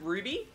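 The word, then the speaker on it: RWBY: Is it Ruby? But it's spelled R-W-B-Y.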